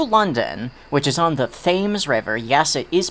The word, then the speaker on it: Thames: island new new london which is on the thames river yes it is pronounced like that yes it was very confusing